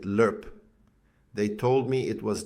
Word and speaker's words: LRRP: They called it the recondo school, long range reconnaissance patrol training, LRRP, though we pronounced it lurp.